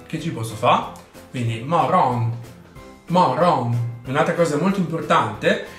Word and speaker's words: morgon: La parola mattino in svedese si scrive morgon, ma si pronuncia morgon. Non c'è un vero e proprio motivo, gli svedesi lo pronunciano così. Che ci posso fa? Quindi morgon, morgon.